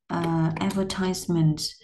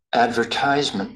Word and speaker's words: advertisement: Nó sẽ có hai cách đọc. Với anh Mỹ, Advertisement. advertisement là nhóm vần 3. Advertisement. Nhưng mà anh thì là advertisement là nhóm vần 2. Nó chỉ khác nhau cái chỗ dấu nhấn á.